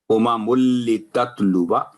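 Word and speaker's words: لِتَتْلُوَا: زائد ہے، تو یہاں جب اس کو کنٹینیو پڑھیں گے تلاوت کے دوران، امم لتتلوا آواز لمبی نہیں ہوگی، باقی الف کو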